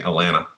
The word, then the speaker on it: Atlanta: get about I guess I should say Atlanta if you're from at Atlanta you say Atlanta yeaha is silent yeah there's like two